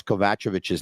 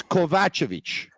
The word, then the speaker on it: Kovacevic: By the way, Jack says, Tony, please learn how to pronounce Kovacevic's name.